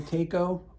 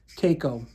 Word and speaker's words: Taco: So I ended up buying the Taco, and it's not taco for people that aren't from around Rhode Island. It is Taco, not taco. But if you want to pronounce it taco, you go right ahead.